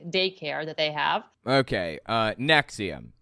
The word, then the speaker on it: NXIVM: It's pronounced NXIVM.